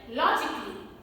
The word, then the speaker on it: logically: So letter A is silent in words like logically.